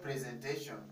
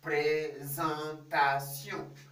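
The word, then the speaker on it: présentation: again presentation repeat presentation don't say presentation that is english you need to say presentation so how do you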